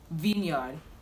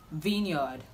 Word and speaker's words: vineyard: pronounce this word is vineyard vineyard vineyard okay i know v-i-n-e is vine but when it has a yard attached to it it's this the pronunciation changes so it's not vineyard